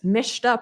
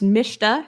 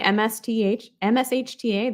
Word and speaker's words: mshta: these down here suspicious mishta process execution and i will stick to this it's pronounced mishta if you say msth mshta that is okay i say mishta but take a look